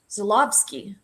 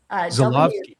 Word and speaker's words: Żuławski: Quick note, it's actually pronounced Żuławski. Żuławski. He's from Poland, and in Poland the W sounds like a V. Żuławski.